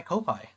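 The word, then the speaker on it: Ko-fi: I always say it like coffee. That's how I thought it was because when you log in, it's like, "Oh, buy him a coffee." Like a play on words, you know?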